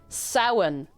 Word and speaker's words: Samhain: This is pronounced Samhain. Samhain. Samhain. Samhain. The MH, the M is lanite, it's like, it lanites the M sound, so it's not Samhain, it's Samhain. Samhain. It's like, imagine a sow.